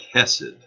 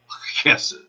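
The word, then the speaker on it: חסד: There is the Hebrew word, looks like hesed, but it's actually pronounced with kind of a guttural CH, hesed.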